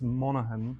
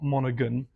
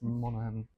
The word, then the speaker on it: Monaghan: Um and I've just double checked how how to pronounce Kira's surname and it's Monahan. Okay. It's not Monogun, it's Monahan.